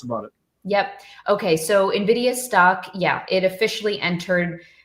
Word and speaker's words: Nvidia: that broadcom one uh I always say Nidia but it's Nvidia right yeah I hear both Nvidia and uh Nidia I think you say it correctly you say nid I say Nidia there's no I between it's just n and Nvidia okay Nvidia um so it's